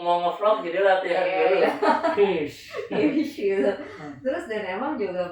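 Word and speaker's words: quiche: Tulisannya kuice, tapi kalau bacanya kish gitu kan. Iya, soalnya aku dimarahin Dina. Soalnya nggak pernah tepat. Iya. Bukan gitu. Aduh. Berhubung mau nge-vlog jadi latihan dulu. Kish gitu.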